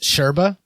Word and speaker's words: yerba mate: brought to you by yerba mate pronounced sherba yep these sons pictures